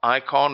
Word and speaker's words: Icahn: investor called Carl Icahn Icahn is spelled I see aah in call icon sold all of his